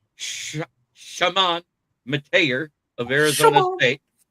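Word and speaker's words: Chamon: But anyways, Warhawks, it's Shamant Mate of Arizona State.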